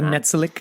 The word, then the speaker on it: Netsilik: perspective of the Netsilik sorry I am mispronouncing the Netsilik is how they pronounced it and the terror the